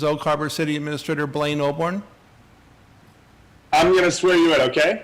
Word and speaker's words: Oborn: for us uh City administrator Blaine oborn b-l-a-i-n-e oborn o b o r n and it's a